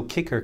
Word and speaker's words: Kyckr: so kicker kyc KR kicker as we pronounce it has a globally